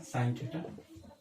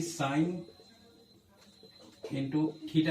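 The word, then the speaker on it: sin θ: साइन थीटा। और इसको कभी भी साइन इंटू थीटा नहीं पढ़ना है, ये गलत है, ये प्रोनाउंसिएशन गलत है, क्योंकि ये साइन थीटा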